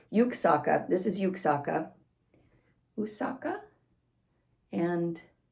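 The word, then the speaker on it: Juksáhkká: figure with a bow that's yuksaka spelled with a j well one of the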